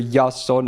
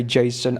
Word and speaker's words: Jason: So we got Mr. Yason, as I like to call him, but you can say Jason, I don't care. But in Japanese it's Yason, so that's how I've kind of grown used to saying his name, because, Greek, I don't know, stuff like that.